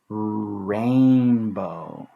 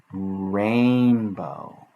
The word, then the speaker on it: rainbow: Sometimes A, I work together to make A. Because A says its name, because I is here as the silent letter helping A say its name. rainbow, rainbow, rainbow, rainbow.